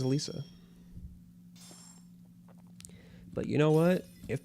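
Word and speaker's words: Elesa: It's just like Lisa with an E in front of it. That's what they say. I I thought it was Alessa cuz like electric, but like nope. Everyone in the anime says Alisa.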